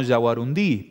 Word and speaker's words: yaguarundí: Está bien, porque por ahí aparece, hay una tendencia como a pronunciar como una palabra aguda, ¿no? Yaguarundí, pero está bien dicho entonces.